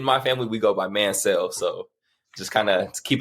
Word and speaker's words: Manciel: Me and my family, we pronounce it Mancel, like M-A-N and then S-E-L-L, like Mancel. I've heard Manciel. I've heard Manciel.